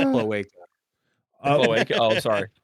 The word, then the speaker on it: cloaca: It's pronounced cloaca.